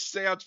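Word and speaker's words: séance: Yeah, like why do you have to do this seance before you can move out? Like Also, kid, you're saying it wrong. It's seance. he's like 2.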